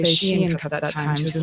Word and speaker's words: Shein: Welcome to the world of Shine. Yes, like I don't think it's shine. Shein is how I tend to pronounce it.